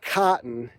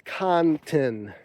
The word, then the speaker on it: OxyContin: It's not cotton, it's Contin.